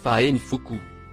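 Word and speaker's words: فأنفخ: en surbrillance gris foncé il se prononce fine fuku il se traduit par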